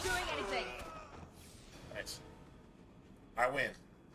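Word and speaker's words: Wynne: I win.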